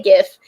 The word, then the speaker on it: GIF: how you say it I say jiff some people say gif but I like to use the export to gif